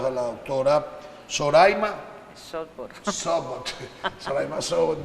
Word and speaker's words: Zoraima Schotburt: Soraima Sobot, yo lo leo como se escribe, pero es Soraima Sobot, gracias, que es la encargada del área de toxicología del Hospital Pediátrico, doctor Agustín Zubillaga.